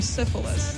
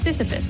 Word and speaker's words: Sisyphus: I called him Syphilis, like the disease. And I said that full confidence. Girl, it's not even, there's no L.